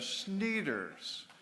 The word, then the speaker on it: Schneeders: bert there you are for pronouncing my last name correctly as schneeders my family thanks you